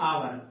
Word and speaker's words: hour: होने के बाद, जैसे हम बात कर लें HOUR, इसको पढ़ते आवर।